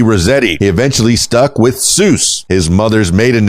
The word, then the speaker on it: Seuss: he eventually stuck with Seuss his mother's maiden name and his own middle name albeit one that was originally pronounced something closer to zoy nice uh the doctor